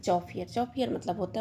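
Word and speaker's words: chauffeur: चौफियर। चौफियर मतलब होता है मोटर कार चालक। क्या बोलते हैं? चौफियर।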